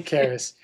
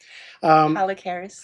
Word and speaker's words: Keris: Thank you, Holly Keris. I have mispronounced her last name before, and I'm trying to get it right. Holly Keris.